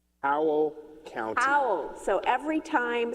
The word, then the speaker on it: Howell: make a noise that sounded like a wolf. I don't want to say the word because I don't want to use the word even though it's spelled differently. But, you know, what the wolf would do at the moon.